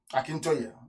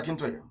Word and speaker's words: Akintoye: Akintoye. I want to pronounce it correctly. Professor Akintoye.